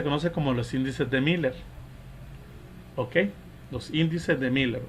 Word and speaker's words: Miller: como los índices de Miller. ¿Ok? Los índices de Miller, o índices de Mila, pronunciado, ¿verdad? Un idioma ya alemán directamente.